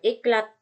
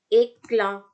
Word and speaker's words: éclat: Oke, contoh éclat bukan eklat tapi éclat bukan eklat, T-nya nggak dibaca, éclat, ya kan sama tuh di akhir.